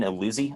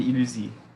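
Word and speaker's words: Illusie: with primarily right here is I also can't pronounce it because he's French, but it's Delane Illusi, I think is how you say it. It's a De ligne and Illusi.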